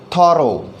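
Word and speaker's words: thorough: थॉरो, यहाँ पर जो प्रोनाउंसिएशन है वो है थॉरो। तो अगर हम कहें कि इसका क्या प्रोनाउंसिएशन है तो ये कहा जाएगा ओ इज़ the pronunciation of OUGH, थॉरो। थॉरो का मतलब होता है संपूर्ण, सारा का सारा। जैसे we need a थॉरो study of this book, हमें इस किताब की थॉरो, संपूर्ण, परिपूर्ण स्टडी की ज़रूरत है। सो थॉरो में OUGH का प्रोनाउंसिएशन हम ओ देख रहे हैं यहाँ पर।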